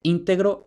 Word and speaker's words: íntegro: Y ahora, ¿cómo explicamos este cambio de acentuación? ¿Cómo es posible que este detalle tan pequeñito haga que cambie el acento entre íntegro y entero?